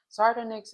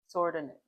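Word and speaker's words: sardonyx: Sordinex or sardinex is how you often hear people saying it. Okay. Um, especially people from Philly, sometimes they say it with a W in it. That's how it sounds, but it's spelled with just a O.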